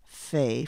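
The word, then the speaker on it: פ: pay not F but when there is no dot in the middle it is pronounced like our English F and in spelling a word that has the pay with no dot we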